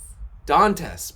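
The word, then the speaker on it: Dantès: my colleagues says 'don't rhymes with princess don't test dantas princess princess dentists so like dantas prince Dantas ok Dantas alright thank you we're gonna switch to Dantas thank you for that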